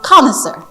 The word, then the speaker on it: connoisseur: The pronunciation of connaisseur is the Connaisseur, which is the French word. And the French word doesn't even pronounce it that way. The French pronounce it connaisseur. Connaître, connaisseur. Quelqu'un qui connaît quelque chose. But the English pronunciation is this one, is connoisseur.